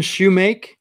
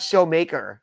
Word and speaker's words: Shoemake: I'm like, you saying his name wrong? It's Shoemake, not Shoemaker. I've never heard that as a name before.